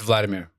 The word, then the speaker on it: Vladimir: It's Vladimir.